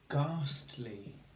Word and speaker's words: ghastly: Let's have the word ghastly. How ghastly. Two syllables. Ghastly. Ghastly. Ghastly. Okay. So we have the GH spelling of g, hopefully you spotted.